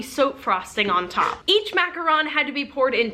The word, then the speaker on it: Macaron: It is pronounced Macaron, not Mack-a-ROON.